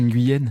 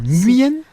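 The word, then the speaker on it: Nguyen: C'est quoi cette façon de prononcer un nuuyen ? C'est littéralement comment ça se prononce en vietnamien en fait. Non, nuen mais en vietnamien du sud, si c'est du nord, l'accent est différent apparemment.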